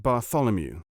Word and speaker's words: Bartholomew: You pronounce that Bew, I suppose?" "No, you do not. You pronounce it Bartholomew.